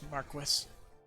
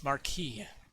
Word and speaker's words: Marquis: I still hate how they pronounce Marquis. I will always hate how they pronounce Marquis. It's Marquis.